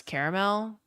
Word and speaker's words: caramel: How do you pronounce caramel? Three syllables. Caramel. Uh, do you pronounce cot and caught the same?